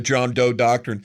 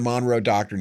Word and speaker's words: Monroe Doctrine: We believe that the John Doe Doctrine. He can't even say it right. It's the Monroe Doctrine.